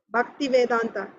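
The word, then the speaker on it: Bhaktivedanta: He said, Swamiji, Bhakti Vedanta.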